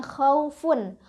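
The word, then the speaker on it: خَوْفٌ: Jadi kalau enggak berhenti kan ini diwasol atau disambung maka bacanya khaufun. U-nya wau matinya itu hanya lunak aja dibacanya. Khaufun pendek lunak ya. khaufun lembut ya.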